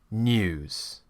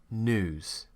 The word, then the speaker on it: news: Whereas an American, they would say news. And what they're doing there is they're pronouncing it more like it's spelt, n-ooze. In British English, we create this y sound and it becomes news.